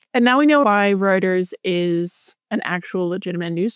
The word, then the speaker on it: Reuters: Um, the difference between the F1 headline and the Ruters headline. I know it's pronounced Reuters.